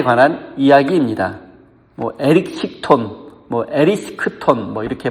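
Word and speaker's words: Erysichthon: 바로 에리스크톤에 관한 이야기입니다. 에리스크톤 이렇게 발음하는데, 에리스크톤은 데메테르 여신이 다스리는 땅의 한 부분을 다스리는 왕이었습니다.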